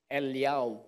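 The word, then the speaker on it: אֵלִיָּהוּ: You know how they pronounce Elijah in Hebrew? Eliyahu.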